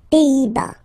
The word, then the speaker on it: Pays-Bas: Final S here, not pronounced. Same thing here. Pays, pays, and then bas. Les Pays-Bas.